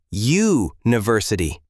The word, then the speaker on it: university: Because university is pronounced U-university. That Y sound is a consonant sound, even though the letter is a vowel.